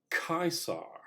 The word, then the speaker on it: Caesar: we say um julius caesar uh but it is pronounced in classical latin yulios kaisar yeah ae in classical latin is also i instead of e like we do in liturgical latin complicated isn't it it's